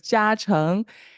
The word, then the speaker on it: Jiacheng: It's kind of hard to pronounce. So it's Jiacheng.